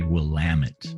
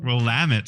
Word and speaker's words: Willamette: Yes, and you want to say Willamette. Willamette. See, you want to hit that second syllable.